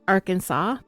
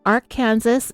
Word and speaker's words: Arkansas: another fun fact that I found out about Arkansas is that the state does have a law